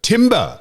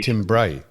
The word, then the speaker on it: timbre: Not like your dulcet, deep timber is what the word is. Timber. In actual fact, Sam, I think you'll find the French pronunciation. Timbre. No, timbre. It's timbre. It is too.